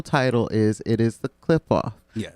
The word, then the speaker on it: Qliphoth: And for those that have not figured out what the pronunciation of the actual title is, it is the Qliphoth.